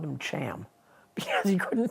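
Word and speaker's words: Chaim: how to pronounce it get some flat phlegm in the back of your throat and rattle it oh so that's how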